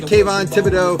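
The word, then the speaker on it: Kayvon Thibodeaux: He's a Kayvon Thibodeau fan.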